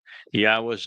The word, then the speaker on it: Yahweh: Yahweh is the proper pronunciation of the name of our Elohah God, as directed by his Torah teaching regarding his Haya existence and our Shalom restoration.